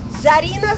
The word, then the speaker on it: Zarina: now a very easy say your name and spell it my name my name is like movie um Zarina zabriski z a r i n a zabis